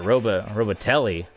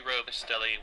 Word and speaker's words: Robustelli: Robatelli. Andy Robustelli was a Robustelli.